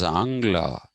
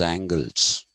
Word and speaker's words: Angla: It's funny that Telugu, of all languages, uses Angla. The Americans pronounce them as angles. Okay, it's a terrible pronunciation. They're not some angles. It's Angla.